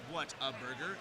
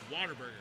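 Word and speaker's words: Whataburger: says what a burger it is not pronounced what a burger it's pronounced Water Burger Water Burger Water Burger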